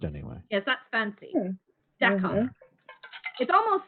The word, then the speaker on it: Dakar: Dakar. It almost sounds like, and look at me, I want French to say this, but it sounds like d'accord, which means okay.